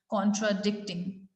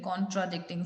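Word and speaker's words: contradicting: एक वो जैसे एक वर्ड हो गया कॉन्ट्राडिक्टिंग, तो वहां पर भी हम उस वर्ड में सेकेंड सिलेबल पे ज्यादा स्ट्रेस दे रहे हैं, कॉन्ट्राडिक्टिंग, the similar fashion, in the similar way और इन द सिमिलर मैनर।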